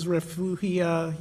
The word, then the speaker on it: refugia: These are important refugia is the correct way to say it.